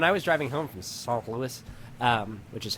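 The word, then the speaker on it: St. Louis: time um when I was driving home from s Louis um which is how you say that um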